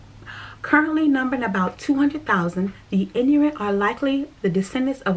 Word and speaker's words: Inuit: And last but not least, I am 1.0% Inuit. It is spelled I-N-U-I-T, Inuit.